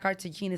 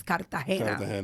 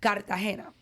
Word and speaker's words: Cartagena: I keep telling people it's not Cartagena, it's Cartagena. And I'm Colombian, so I know the pronunciation. You know what I mean? Oh, there you go. Because he's not a Gina or Jenna, he's a Cartagena.